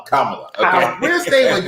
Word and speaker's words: Kamala: And it's not what they want to pronounce it, Kamala. Kamala. It's Kamala.